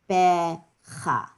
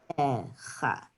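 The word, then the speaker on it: בכה: that has a transliteration, it has KH for, and sometimes they do it with German transliteration and write CH. So I would spell this B-E-C-H-A. That's how I would spell it. Becha. Becha.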